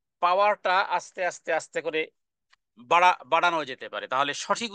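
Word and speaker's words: ب: এর বিপরীত হলো বা বা হলো দুই ঠোঁট বন্ধ রেখে দুই ঠোঁট বন্ধ রেখে আলিফের বিপরীত আলিফ কে আমরা টানিনি কিন্তু বাকে এবার আমরা টানবো দুই হরকত পরিমাণ অথবা খেট টেনে পড়বো দুই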